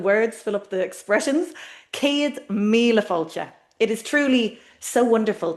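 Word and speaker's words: céad míle fáilte: And we hear that long a in the first word. Ced here. And then the long i. Mila. And the long o. Fulture.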